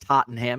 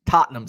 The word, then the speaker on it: Tottenham: having shepherd's pie uh Tottenham is not pronounced Tottenham it's pronounced Tottenham see I'm not I'm